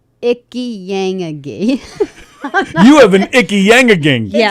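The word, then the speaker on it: Ichiyanagi: It's spelled ICH Icky. ick. Ick. ICHI Icky. Icky. Or Yeah. itchy. Itchy. YAN. So yang. I have an itchy yang. That's bad. And then That's AGI medication. Aggie. AGI.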